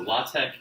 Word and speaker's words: LaTeX: the and that is really really complicated so law Tech is actually a markup language that sits on